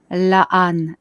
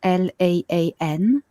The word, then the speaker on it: La'an: The 4th race that isn't in the Pleiades but has colonies everywhere, it's La'an, L-A-A-N, and they are humans with feline features.